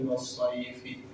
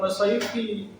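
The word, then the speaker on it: وَالصَّيْف: Dia baca surah Ila fi Quraisyin ila fi rihlatas sita'i was-sayfi. Dibacanya was-sayfi. Tapi kiainya bukan was-sayfi. Was-sayf kalau waqaf, kalau mati atau diberhentikan jangan dibaca. Jadi was-sayf.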